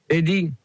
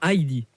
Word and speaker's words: Heidi: Eddie. Non, Heidi.